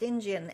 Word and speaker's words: Injun: I'm Honest Injun, or talking about someone else as an Honest Injun, except, and it's INJUN, that's why I'm pronouncing it that way.